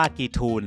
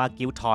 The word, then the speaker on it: Giethoorn: บ้าน นี้ นะ ครับ มี ชื่อ ว่า กี ทูน หรือ จะ อ่าน ว่า กิ้ว ทอน ก็ ได้ นะ ครับ มา จาก